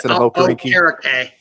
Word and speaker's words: Okereke: But whether it's Leonard or Okereke, is that how you say his name now? It's Okereke. Yeah. Okereke.